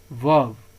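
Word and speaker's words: verb: आर यहाँ पे silent होता है, इसको क्या पढ़ते हैं, वर्ब।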